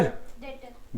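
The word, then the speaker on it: debtor: क्या होता है adapter डेटर very good डेटर होता है बी साइलेंट होता है ठीक है इट इज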